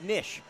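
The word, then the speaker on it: knish: little known fact noah it's actually pronounced nish the k is silent but yeah we were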